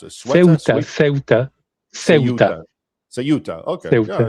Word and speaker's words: Ceuta: How do you pronounce it? Ceuta.